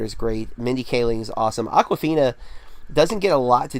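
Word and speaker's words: Awkwafina: spelled very fun - it's not like the water it's like aqua like awkward FINA so it's a wk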